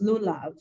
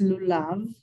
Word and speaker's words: lulav: lulab over here uh you would probably hear it pronounced lulav but it's Lou love have you heard of